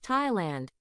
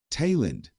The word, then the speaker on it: Thailand: 그런데 타일랜드의 영어 단어의 TH 발음은 예외적으로 그냥 태 발음이랍니다. 이와 같은 예외적인 발음은 대부분 지명이나 고유 명사에서 발생해요. 소리내어 발음해볼까요? Thailand.